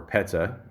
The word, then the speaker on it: PETA: age of three and campaigns for P or Peta as they pronounce it and in defense of animals well